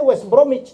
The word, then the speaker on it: West Bromwich: Ya West Bromwich Albion itu bacanya West Bromwich, W-nya nggak dibaca.